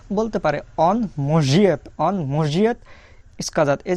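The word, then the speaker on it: может: অন মসজিদ, অন মসজিদ ইস্কাজাত। এই যে যে অক্ষরটা দেখতে পাচ্ছেন এটার উচ্চারণ কিন্তু বারবারই আমি আপনাদেরকে বলছি, এটার উচ্চারণ জ, এটার উচ্চারণ জ।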